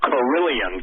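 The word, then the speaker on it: Kirlian: Lake, seeing what you proposed with 5G and then seeing the Carillion, I'll pronounce it, Carillion, K-I-R-I-L-I-A-N photography, did it ring some bells instantly to you?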